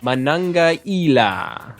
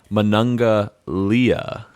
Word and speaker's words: Manangaila: How do you pronounce it? Manangaila. Okay, I'm going with Manangalia. That's because you're an idiot.